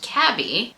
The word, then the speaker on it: Cabi: This is from Cabi, or as I am being told by one of you that it is pronounced Cabby, which just sounds wrong, but I think this